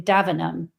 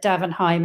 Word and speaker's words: Davenheim: Now, until I actually saw one of the episodes, I'd always called him Davanum. Because as we know, the British don't like to pronounce all the word letters and do all the words properly. But then I, you know, rewatched the adaptation and they all said Davenheim and I'm like, "Oh, we're pronouncing them all today then, are we?"